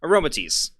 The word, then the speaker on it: Aromatisse: It has aroma in it. Aroma and then tease. Aromatisse.